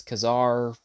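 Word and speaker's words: Ka-Zar: a figure we have kesar that's how I'm going to that's how I'm going to pronounce it if it's Kazar to you then just imagine me saying Kazar cuz I'm going to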